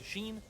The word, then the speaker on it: Oisin: He was like, the name's a Sheen. It's spelled Oisin, but it's like, and then like the League of Legends item Sheen.